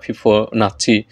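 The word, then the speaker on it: Fibonacci: এই ধরনের সংখ্যাগুলোকে বলা হয় হচ্ছে, যদিও অষ্টম শ্রেণীর বইতে ফিবোনাক্কি বলা হয়েছে, আর বেশ কিছু গণিত বইতে এটা ফিবোনাচ্চি এভাবে উচ্চারণ করা হয়েছে।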